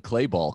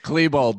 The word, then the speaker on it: Klebold: That's a Dylan Clayball quote. Who's Dylan Clayball? Oh, he's God. He's the Columbine kid. One of the Klebold. Klebold, damn it. Oh, he says name wrong.